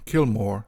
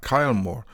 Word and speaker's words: Kilmore: I should mention that I will use the name Kilmore, not Kilmore, which sometimes appears, spelt with a Y, as the former is more faithful to the original Irish.